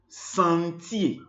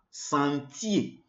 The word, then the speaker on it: sentier: Lorsque le ER est à la fin d'un mot, ou bien lorsque le ER termine un mot français, le ER se prononce E. E. Alors, nous avons Javier, nous avons métier, métier, le métier, job, job, or work, profession, métier.